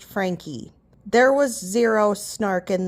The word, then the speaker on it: Franke: All they said is their last name is pronounced Franke.